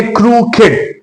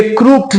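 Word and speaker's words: crooked: ये क्रूप्ड नहीं है। ये क्रू किड है। क्रू किड का मतलब है टेढ़ा। स्क्यू। इसका मतलब है स्क्यू। तो क्रू किड ये क्रूक नहीं है। यह क्रू किड है।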